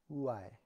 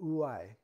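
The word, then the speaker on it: οὐαί: The word in Greek is ouai. Ouai. That's how it's pronounced. And I had to listen to a guy saying it in Greek a couple of times. But ouai.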